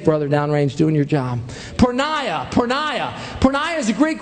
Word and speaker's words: porneia: It's a Greek word and it's pronounced porneia. Porneia.